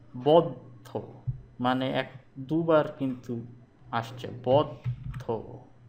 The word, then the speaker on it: বদ্ধ: থাকবো না কো বদ্ধ, উচ্চারণ হচ্ছে কি বদ্ধ, মানে দুবার কিন্তু আসছে বদ্ধ।